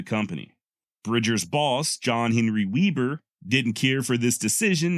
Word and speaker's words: Weber: of his name is Weber Webb R and Weber is how his modern descendants pronounce it the German born Weber however had